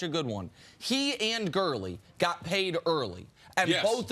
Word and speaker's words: Gurley: always want to see Gurley rhymes with early moving on to the